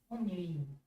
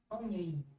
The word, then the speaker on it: ennui: Ennui. Ennui. Ennui. You guys hearing that? Ennui.